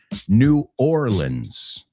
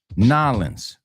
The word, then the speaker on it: New Orleans: The technically correct way is New Orleans. No se pronuncia la A y E juntos. But you know what they say? Nolens.